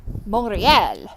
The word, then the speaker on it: Montreal: leg of the trip, which was Montreal, or Montreal if you're from there, but don't say it like that in front of them, they get upset.